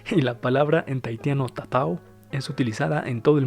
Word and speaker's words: tatau: pintan sus cuerpos y lo llaman ta ta ta ta así se pronuncia y lo escribió el cómo está tu percepción se ha tratado en la palabra en tahitiano tatau es utilizada en todo